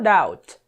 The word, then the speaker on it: doubt: No doubt. Doubt. Tá? É assim que se pronuncia. Não tem esse B aqui não. É só doubt.